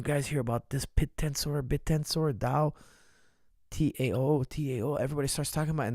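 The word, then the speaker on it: TAO: But it's pronounced DAO, but it's spelled T-A-O. So T as in Tango, A as in Alpha, O as in Oscar. Now, guys, I'll tell you something. DAO, which is spelled T-A-O, also known as BitTensor.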